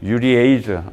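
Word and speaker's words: urease: 그러면 유리에이즈 이걸 아마 유리즈라고 읽지는 않겠지. 유리에이즈라고 읽겠죠.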